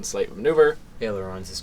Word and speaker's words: ailerons: decide if I want to do the adaptive ailerons or whatever. I don't even know how it's pronounced, so I go ahead and do the 1 slight maneuver. Ailerons is correct.